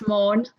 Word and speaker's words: Maughan: Is that how your name's pronounced? Maughan, is that right? It's Maughan. Maughan, there we go.